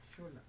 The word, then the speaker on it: Xola: puestas en lenguas indígenas, los frailes españoles usaron este símbolo para representar el sonido sh, como se escribe en inglés, sh. Entonces todavía tenemos palabras, por ejemplo, aquí en la Ciudad de México hay una calle que le llamamos Xola, o sea, la pronunciamos Xola.